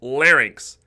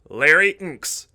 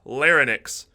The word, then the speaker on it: larynx: throat called a larynx important point that's larynx larry inks not larynx so don't say that or try to spell